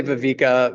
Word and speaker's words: viveka: So viveka, some people say viveka. Viveka, I believe, is the correct way to say it.